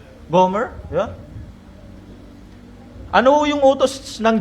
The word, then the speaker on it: Gomer: Paano ba yung bigkas non? Gomer. Homer Gomer.